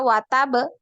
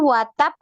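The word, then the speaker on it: وَتَبَّ: Jadi jangan dibaca watab, tapi watab naik ya. Suaranya naik Ya. dulu, ditinggikan dulu baru kemudian dipantul huruf ba ya.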